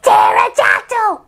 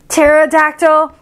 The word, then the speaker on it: pterodactyl: for pterodactyl nah your brain is melting it's pterodactyl okay okay pterodactyl the worst alphabet book ever and that was